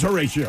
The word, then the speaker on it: Horatio: It is Horatio, which rhymes with fellatio.